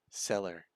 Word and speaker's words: cellar: but it's spelled with the Cellar. It's the potion seller. Cellar or Zeller? Cellar, as in underneath the house sort of cellar.